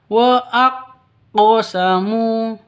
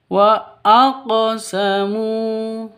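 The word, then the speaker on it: وأقسموا: untuk disebut dengan qqolah begitu harus dipantulkan cara bacanya wa aqamu cara bacanya seperti itu bukan dibaca waqqosamu ya tapi waqamu begitu ini ada di tengah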